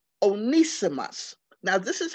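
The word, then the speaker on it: Onesimus: spell it but i might mess up the pronunciation he was called onisimus onisimos now this is how you spell it o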